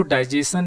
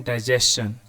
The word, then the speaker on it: digestion: जो वर्ड है आपका, इसको डाइजेशन नहीं पढ़ते, इसको पढ़ते हैं डाइजेशन। तो इसका रियल प्रोनाउंसिएशन होगा डाइजेशन, जैसे क्वेश्चन, डाइजेशन, सजेशन। ठीक है, चलिए ये तो एक इंग्लिश का मैटर है।